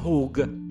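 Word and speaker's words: חוג: di come hanno tradotto la parola «chug», si pronuncia «hug», che non significa assolutamente sfera, ma cerchio.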